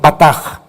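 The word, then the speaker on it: בטח: verdad esta palabra confiar es la palabra hebrea con b de burro batach se escribe dice pronuncia bataja significa sentirte seguro firme y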